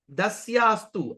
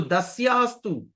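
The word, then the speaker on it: dāsyās tu: Mune dasyastu. S. No sha, no sha. It's s. Sa. So dasyastu. Dasyastu.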